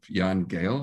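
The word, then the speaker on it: Jan Gehl: danish architectural firm of jan gale i believe is the way to pronounce it that there are efforts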